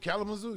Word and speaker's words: Kalamazoo: say it right yeah kelly you said it kalamazoo kalamazoo you know what i'm saying congratulations uh